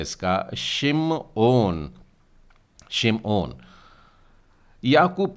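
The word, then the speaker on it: שמעון: पर उच्चारण में आप इससे कैसे बोलेंगे हेबर उच्चारण होता है इसका सिम ऑन सिम ऑन याकूब का तीसरा पुत्र और उसे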